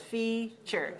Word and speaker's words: feature: The word is feature. It's a noun, F-E-A dot, T-U-R-E tells us that there are 2 syllables, feature, feature. It's stressed on the first syllable, so 2-1.